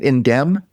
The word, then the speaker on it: Indemn: Indem. The M is silent.